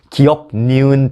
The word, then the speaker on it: 기역: 불가피하다고 중징계를 냈습니다 자 기억하십시오 기억하십시오 아니라 기억하십시오 기역니은 디귿이 아니라 기역 니은 디귿입니다네 자 오늘 영상은